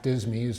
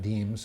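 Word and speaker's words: disme: Now, I know that some of you are thinking that 1792 half dismies or half dimes or half deems, however you want to pronounce it, were circulated, but those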